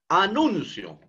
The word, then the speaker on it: anuncio: Anuncio. Anuncio. Nun es la sílaba donde se encuentra el acento prosódico.